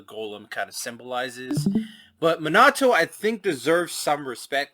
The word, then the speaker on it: Minato: When it though comes to the whole debate between Gollum and Minato, sorry, didn't pronounce that right. Minato.